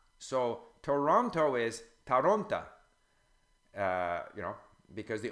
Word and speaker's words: Toronto: And there are a few little things that are kind of deceptive, like the O, if it's not stressed in a word, becomes A. So Toronto is Taronta, because the O becomes an A.